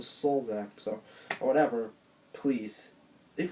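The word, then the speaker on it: Sulzbach: It's MrRepzion, or it's not Daniel Folsback or whatever, it's Daniel Solzak, so, or whatever.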